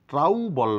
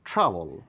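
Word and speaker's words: trouble: ও যুক্ত আছে বিধায় এই ও লেটারের কোন উচ্চারণ নেই পি ওপল না বলে বলবো পিপল অর্থাৎ পিপল ফ্রি ফল ট্রাউবল নয় ট্রাবল ও এর কোন সাউন্ড নেই লিওপার্ড নয় লেফার্ড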